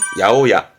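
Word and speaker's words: 八百屋: 발음은 야오야. 그렇습니다. 야채 가게죠. 야채는, 그렇죠. 야사이. 그러면 야채 가게는 야사이야가 아니라 야오야.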